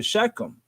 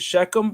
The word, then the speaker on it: Shechem: came into assure and proceeded to shechem or shekel whichever way you want to pronounce it shekham or shakim it's all right with me and he dwelt near